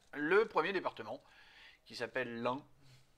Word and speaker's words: Ain: premier département qui s'appelle l'Ain. Non, pas de bol, homonyme, parce que ça s'écrit pas UN mais AIN.